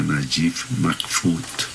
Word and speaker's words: Naguib Mahfouz: Es que yo me acuerdo leyendo a Naguib Mahfouz, que se pronuncia Najib Mahfouz, leyendo a este hombre cómo piensa un árabe.